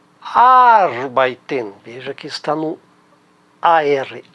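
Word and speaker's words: arbeiten: no alemão a tendência veja bem a tendência de que a sílaba tônica esteja na primeira sílaba e é o caso de arbait arbait Ela está na primeira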